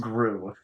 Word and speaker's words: Gru: Yeah, but this is being being spelled g, but it's pronounced grew.